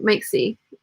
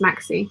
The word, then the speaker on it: Maxey: Again, and I've learned a lot of this from Bianca and Rachel Maxey. Maxey, her name is Maxey. That's how she pronounces it.